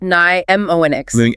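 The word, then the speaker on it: mnemonics: Pneumonics pronounced ny m ox. Mom minics. Here the difficulty lies with that silent initial M which is rooted in its Greek heritage.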